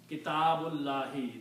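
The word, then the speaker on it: كتاب الله: In Arabic what you do, you remove one dhamma here and change this dhamma to a kasra. So the word, two words now will be pronounced Abdullahi, servant of Allah. Kitabullahi, the book of Allah.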